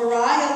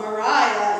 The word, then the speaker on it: Mariah: the question is about how i knew to call mariah love mariah instead of maria the italian way of pronouncing it there's actually a lot